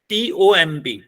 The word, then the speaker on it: tomb: COMB is called comb. And what is the pronunciation of TOMB? It's tomb.